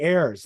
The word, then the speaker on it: Ayers: Yeah, okay, Ayers, like AJ Ayers, but yeah.